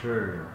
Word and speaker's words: Sheh: I like you have to say it like you're unsure.